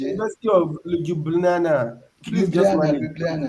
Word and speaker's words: Ljubljana: University of Ljubljana. You don't Okay, pronounce the J. University of Ljubljana.